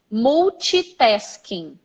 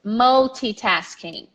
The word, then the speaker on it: multitasking: and we say mochi so the wrong pronunciation many times is more cheap asking mochi pesky incorrect how do you pronounce it multitasking multitasking multitasking multitasking multitasking multitasking also one of explore example of a word that is fully pronounced every syllable is pronounced every letter is pronounced multitasking yeah I have